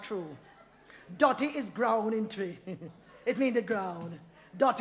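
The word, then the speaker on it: Twi: tree yeah man it spelled tww but it pronounced tree I one good language and make me tell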